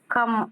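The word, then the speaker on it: कम: plus ஆனாதான் மானான்னு உருவாகுது அதனால இந்த ஆனா உச்சரிப்பு மட்டும் உச்சரிக்கக்கூடாது கம் அப்படின்னு சொல்லணும் எழுதுறப்ப ஆனா முழுசா ரெண்டு எழுத்தும் தனி ஃபுல்லாதான் எழுதணும் கவும் எழுதணும் மாவும் எழுதணும் எழுத்து எழுதுறப்ப உச்சரிக்கிறப்ப மட்டும் கம்னு உச்சரிக்கணும் அதே மாதிரி அடுத்த எழுத்து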